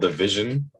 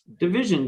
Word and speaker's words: DVSN: Is his name DVSN and he's called Division? Division, just without the without the the eyes vowels. and like without the vowels, yeah.